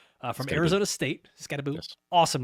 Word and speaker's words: Skattebo: But yeah, let's start at running back 7, where we've got Cam Skattebo. I've been told that is how you pronounce it, not Skattebo, from Arizona State. Skattebo, yes.